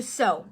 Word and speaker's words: sew: your lovely daughter okay to sew that's how we pronounce that to so what does